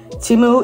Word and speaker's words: Temu: First of all, I just want to say that Temu is pronounced Temu.